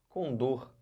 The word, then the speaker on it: condor: é uma palavra oxítona tá olha para cá com dor com dor é uma ave né Andina uma